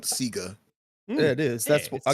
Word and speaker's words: Sega: and say properly but I'm not stopping on Sega like anyone who grew up in Australia knows that that's yeah Sega yes pronounced here yeah Sega themselves said it in